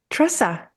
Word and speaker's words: Tresa: Thank you, Tresa. And I hope I pronounced your name correctly. Hi. You actually did pronounce it correctly.